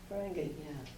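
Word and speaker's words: Whangārei: Well, they pronounce things a little differently, like going down to Ferengi, it's spelled W-H-A-R-A-N-G-E-I, Ferengi. Yeah. The W-H is pronounced as an F.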